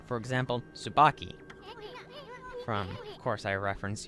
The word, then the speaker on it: Tsubaki: If it's a T and an S, the T is silent. Like, it's a very light T if you can do it, but 9 times out of 10, you're just going to hear the T silent.